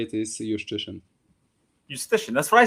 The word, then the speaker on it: Szewczyk: Yeah, Jiu-Jitsu is the best way to pronounce it. Justitian? Jiu-Jitsu, yeah, like the martial art. This is my favorite. Yeah, there was one tournament when someone pronounced it exactly like this, and I remembered it. And this is always, every time someone asks me, I'll just respond, just say Jiu-Jitsu. He loves it. But the correct way to say it is Justitian.